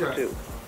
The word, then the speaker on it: Lesotho: Now, how do you pronounce that? Lesotho? Yes, Okay. Lesotho.